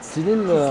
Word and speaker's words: Tsilil: C'est ça, madame, c'est Tsilil, on le dit comme ça.